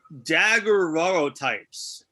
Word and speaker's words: daguerreotype: They're daguerreotypes. I actually did not know that. How does one pronounce that, actually?